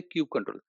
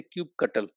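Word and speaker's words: kubectl: Some Dutch people they say cube cuttle. Right? If you go to Germany and there the keynote speaker from Germany he will say cube cuttle. Right? CTL means cuttle.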